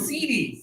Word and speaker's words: seedy: And then high tone. Cidi.